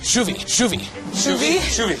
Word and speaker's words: skulle vi: Oh, shuvi. I remembered that there's a lot of Norwegian words that have the SK and it's a sh sound instead of a sk sound. Kanskje uten havet viort shuvi bært båten?